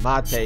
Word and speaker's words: mate: It's pronounced mate, you imbecile.